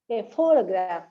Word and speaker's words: photograph: g r a p the stress falls on the first one four photograph but in the second